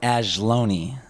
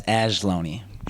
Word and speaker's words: Ajlouny: name I know you gave me the the pronunciation off camera but can you tell everyone your name yes it is angeloni once again that's ashloni and um you have a very deep background